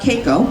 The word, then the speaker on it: Keiko: min ago John so the question is about Keiko that's how it's pronounced I'm about comparing caco-2 Lolita and that